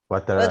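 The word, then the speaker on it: Ouattara: How do you say um Watara? Watara. Depends if you want added a French accent to it.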